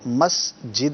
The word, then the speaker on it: مسجد: انہوں نے مسجد بولا، تو مسجد ہے، یہ درست تلفظ اس کا، بہت سارے لوگ اس میں غلطی کا شکار ہو جاتے ہیں۔ آگے ہے احاطے، مسجد